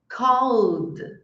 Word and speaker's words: called: Então, não é listened, called, stayed. É listened, called, stayed. Fala o verbo e coloca um de.